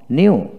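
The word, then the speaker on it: knew: নো নো নিউ নিউ এখানে কে এর উচ্চারিত হবে না নিউ নো বানান করার সময় কে এন ও ডব্লিউ নো নিউ এন ই ডব্লিউ নিউ কে এন এর উচ্চারিত হবে না নোন নন এন ও ডব্লিউ এন নন এখানে কে উচ্চারিত হবে না নন নন তারপর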